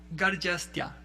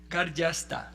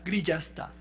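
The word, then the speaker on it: grihastha: Garjastya. En sánscrito, stya se pronuncia más sta. Garjasta, griyasta.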